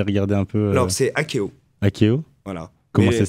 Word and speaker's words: Akeo: Et donc, comment ça s'appelle si on a envie d'aller regarder un peu Alors, c'est Akeo. Akeo. Voilà. Comment ça s'écrit?